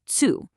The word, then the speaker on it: Zoo: Z actually makes a tooth sound. So "Zoo" becomes "Zu".